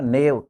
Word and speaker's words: knave: नेव, KNAVE, नेव यानी बदमाश। तो जब भी एन के पहले के आएगा, के साइलेंट हो जाएगा और इसका उच्चारण एन से शुरू करोगे।